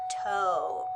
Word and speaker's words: toe: sounds like the word toe ready and then the e is silent so we don't hear the e next if we take